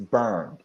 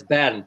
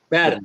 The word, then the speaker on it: Bernd: It's Byrne. I'm German, so it's Bernd, but it's all right. Bend. But Okay. I go by Bernard. It's a hard one for most. But Bend is Bernd.